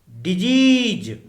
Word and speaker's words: disease: इस शब्द के उच्चारण में सामान्यतः हम सभी गलती करते हैं, अतः उच्चारण एक बार फिर सुनिए। डिजीज, DISEASE, अर्थात रोग या बीमारियां।